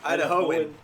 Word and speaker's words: Idahoan: That was from Idahonian? spell check. Idahoan.